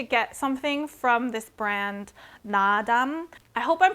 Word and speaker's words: Naadam: I've been wanting to get something from this brand, Nadam. I hope I'm pronouncing that right as well, but there's 2 A's before the D, so I think it's Nadam.